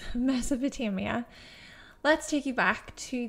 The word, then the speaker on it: Mesopotamia: And yes, watching it back over, I did not pronounce the A the first time, but yes, Mesopotamia.